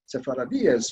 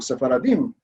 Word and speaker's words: Sephardíes: what they call the Sephardíes. They use that name, which is really the Sephardic pronunciation. It should be Sepharadi, Sepharadíes or Sephardim, but they use that form.